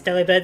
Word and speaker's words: Delibird: You pronounce Delibird the same way you pronounce delivered. There's no E. So, Delibird?